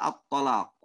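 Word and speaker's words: الطلاق: Kemudian yang kedua adalah menipiskan to pada kata at-talaq. Bisa dibaca at-talaq. Ya, seharusnya baca tebal malah dia tipiskan. Dia bacanya bagaimana? At-talaq. Seharusnya dibaca dengan po, dia baca dengan ta. Po, ta. Ini berbeda.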